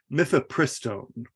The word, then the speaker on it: mifepristone: It's mifepristone.